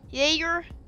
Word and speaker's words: Jaeger: Jaeger?